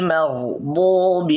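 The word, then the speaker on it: الْمَغْضُوبِ: সিরাতাল্লাযীনা আন'আমতা আলাইহিম, হিম হিম, গায়রিল মাগদুবি আলাইহিম, গায়রিল অনেকেই এই মাগদু এটা পড়তে গিয়া একেবারেই ঠোঁট গোল করে ফেলে, মাগদু মানে একেবারে এভাবে ঠোঁট গোল করে।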